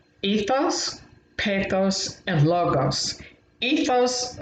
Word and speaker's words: pathos: And pathos, I always think of it as rhyming with bathos, drowning in a bath of tears.